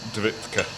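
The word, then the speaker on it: Devítka: Is it, that's David, how do you pronounce that? David? Yeah, Davitka.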